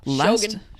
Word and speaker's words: Shogun: Although Shogun.